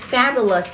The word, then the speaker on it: fabulous: Amazing or fabulous trong âm dương thứ nhất.